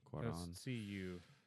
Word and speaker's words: Cuarón: So Alfonso Cuarón, I don't pronounce his last name. Alfonso Cuarón. yeah, Cuaron. Cuarón.